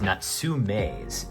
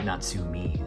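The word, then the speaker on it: Natsume: Um, it is Natsum, not Natsumi.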